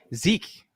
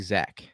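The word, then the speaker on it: Zech: you follow that joke uh rolling into zek zeke is it is it zach texting zach i've just been saying it's been spelled zek but it's actually zach so for the pronunciation police out there it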